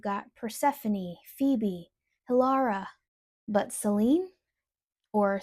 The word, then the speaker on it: Selene: But Selene or Selena, as it is pronounced in ancient Greek, she isn't simply just associated with the moon, she is the moon.